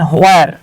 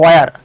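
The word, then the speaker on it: where: হ্যাঁ আমরা এটাকে হোয়ার বলি, উচ্চারণ হচ্ছে ওয়ার, আমরা এটাকে হোয়েন বলি, উচ্চারণ হচ্ছে ওয়েন, আমরা বলে বলে অভ্যাস হয়ে গেছে তাই হোয়েনই বলি।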